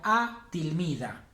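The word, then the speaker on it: التلميذة: La alumna sería a tilmida. A tilmida. El alumno a tilmid. Porque la L del artículo no la pronuncio.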